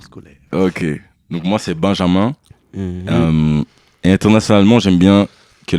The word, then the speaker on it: Benjamin: Donc, moi, c'est Benjamin. Et internationalement, j'aime bien que les gens disent mon prénom à la française, donc que ce soit bien Benjamin, tu vois.